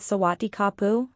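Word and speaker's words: สวัสดีครับ: in Thailand boys were supposed to greet one another with sawati kapu with a pu being a silent syllable many tour guides like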